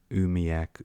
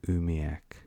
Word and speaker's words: umiak: Umiak spelled completely different to the Umiaq version, but sounds almost identical. Umiak, Umiak. In fact, it does sound identical because it's a variant spelling, but look how different it's spelt.